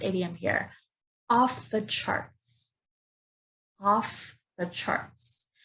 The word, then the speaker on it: off the charts: here off the charts off the charts so notice here I'm putting the worst dress on the first word off so off the charts again stress on charts off the charts off